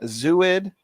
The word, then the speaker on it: zooid: So maybe it's pronounced zooid. Zooid. There we go.